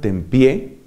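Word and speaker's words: Tempier: hombre que se llamaba Esteban Tempié, que se escribe con una R al final, Esteban Tempié puso una serie de advertencias, cuidado con la enseñanza del dominico ese.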